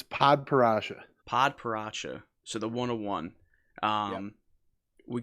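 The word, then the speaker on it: padparadscha: belgium grand prix do you know how to pronounce it yeah it's it's pod parasha padparacha so the 101.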